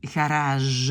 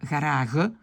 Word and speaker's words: garage: On dit garage, on ne dit pas garage, garage, ça vient du français.